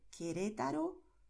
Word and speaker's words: Querétaro: Date cuenta de que aquí yo escribí la letra U porque tengo que escribirla, pero yo no la pronuncio. Yo digo Querétaro, Quito.